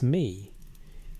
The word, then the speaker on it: me: The word is me. It is pronounced as a single syllable roughly like may, and it appears across hundreds of cuneiform tablets spanning more than 2,000 years of Mesopotamian writing.